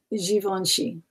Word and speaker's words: Givenchy: It's not a hard G. Yeah, it's Givenchy. Givenchy. Givenchy. Yeah, not a hard G at all.